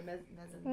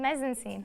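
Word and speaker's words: mise-en-scène: yeah, that would be the, I can't say it right, but I know the word, the mezzanine. mise-en-scene.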